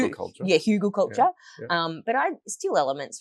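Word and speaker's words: Hugelkultur: like the huden culture H hug culture yeah hugle culture um but I steal elements from that like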